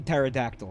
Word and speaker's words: pterodactyl: problem with that is you don't pronounce the P in pterodactyl right I don't know